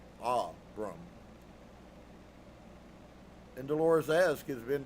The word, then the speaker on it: Abram: Phonetically with a heavy accent on the first syllable. Aram and Dolores asks, "Is Ben David his father?"